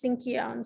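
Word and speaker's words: Sinkyone: Yes, it's Sinkion, so thank you. You did have that pronunciation correct.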